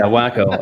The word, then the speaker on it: Waco: there um up in waco given that that's there's a college community up there it's pronounced wacko by the way oh wow yeah wacko um what do you